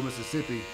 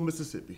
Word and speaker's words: Mississippi: you grow up rural Mississippi Mississippi Mississippi Savior all right not Mississippi Mississippi there's there's some syllables in there that you gotta pronounce them all not just running all together okay but brought up